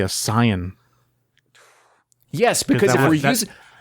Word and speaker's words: Saiyan: What if in the entire movie they pronounce it correctly as Saiyan?